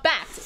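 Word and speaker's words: Bakkt: So Bact is how it's pronounced.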